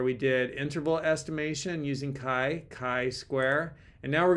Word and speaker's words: chi: it's really important so let's see if I'm pronouncing this correctly Kai Square Kai I'm saying chai I actually like chai